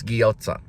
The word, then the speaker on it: gyoza: Everyone pronounces it a little bit different, but I think it's gyoza.